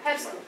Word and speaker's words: Herscu: which is Herscu, and I should say this Romanian. Herscu. Say it properly. Herscu.